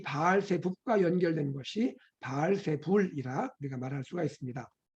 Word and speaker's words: 바알세불: 여러분, 여기에서 바알세불이 누굴까요? 바알세불은요, 원래 이 단어의 발음은 바알제불입니다. 바알제불.